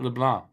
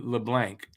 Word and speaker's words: LeBlanc: though the friend guy Matt leblan I think that's how he pronounced it he didn't say LeBlanc who a lot of Americans would say LeBlanc if they uh come